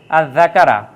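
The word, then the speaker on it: الذَّكَر: জাকার জাকারা মানে পুরুষ এই যা তার পূর্বে আলিফ লাম বসার কারণে কিন্তু সরাসরি উচ্চারণ আলিফ লামের উচ্চারণ হয় না সরাসরি যা এর উপরে একটা তাজদিদ চলে আসে তাইলে আজ জাকারা জাকারা এটা পাবেন সূরা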